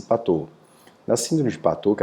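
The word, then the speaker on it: Patau: de pato o inscreva-se para tal pronuncia-se patou na síndrome de pato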